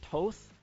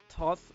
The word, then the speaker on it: Thoth: common rank we have the god toth or thoth or thoth depending on how you want to pronounce that he's the gotta got